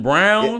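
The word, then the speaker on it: Braun: I'm crazy no but is it Brown I know or BR I know cuz way they spell it on b n so it's spelled like Bron pronoun if they're getting your name wrong bro like let them know like get your name right man appar it's brown brown I I wasn't sure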